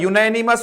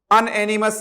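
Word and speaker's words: unanimous: ठीक है दोस्तों, जो चीज फुली इन अग्रीमेंट होता है, यूनैनिमस होगा इसका प्रोनाउंसिएशन, ध्यान दे लेना दोस्तों, अनएनिमस नहीं है, यूनैनिमस याद रखना मित्रों।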